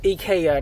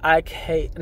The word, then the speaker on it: IKEA: It's pronounced IKEA, not IKEA.